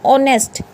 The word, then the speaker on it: honest: ये वर्ड आप हमेशा पढ़ते हो, HONEST, ऑनेस्ट, HONOUR, honour, HOUR, आवर। तो यहाँ पे H क्या होगा, साइलेंट। ऑनेस्ट बोला जाएगा, H को नहीं बोला जाएगा, ऑनेस्ट बोलेंगे, ऑनर बोलेंगे, आवर बोलेंगे, ठीक है।